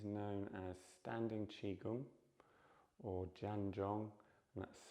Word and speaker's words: Zhan Zhuang: So this practice is known as standing Qigong or Zhan Zhuang, and that's spelt with a Z.